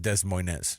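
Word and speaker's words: Des Moines: to be traveling to De MO is that what you're telling me uh I think it's pronounced Dez Moz okay okay we got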